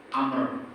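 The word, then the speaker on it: عمرو: Lafaz Umar itu kalau di belakang rohnya ada wawu dibacanya Amr atau Amrun. Kalau enggak ada wawu dibaca Umar.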